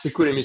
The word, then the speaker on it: Chicoutimi: It's Chicoutimi Saguenay, and it's pretty it's pretty weird.